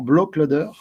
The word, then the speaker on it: Blaklader: blacklader qui s'appelait Gafa blacklader se prononce exactement bloc loader c'est du Suédois glow vous le dire